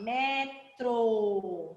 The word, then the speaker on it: metro: com as mesmas letras porém o acento faz a diferença então metrô metrô e aqui ó metro certo então vamos lá para